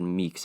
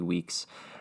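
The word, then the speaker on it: Weekes: you say his name i think i said meeks it's remy weeks uh is gonna do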